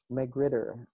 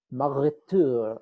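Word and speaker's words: magrittr: They are added as a part of a package called McGritter. And if you read the documentation, you're apparently supposed to pronounce this with a fake French accent, like Marretour or something like that.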